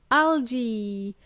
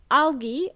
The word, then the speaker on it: algae: Algae, spelled as A-L-G-E-A, pronounced as either algae or algae.